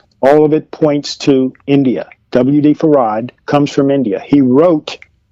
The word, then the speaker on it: Fard: Everyone who says that they had heard him use his name say that he pronounced his name Farad.